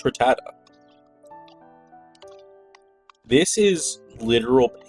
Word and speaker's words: Rattata: I called it though it was like ratada or some weird pronunciation you No, but it's rattata.